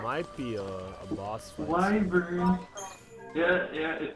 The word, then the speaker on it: wyvern: Wyvern.